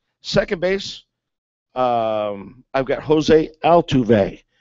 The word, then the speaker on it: Altuve: Second base, I've got Jose Altuve. Is that how you say it? Altuve, yes, sir.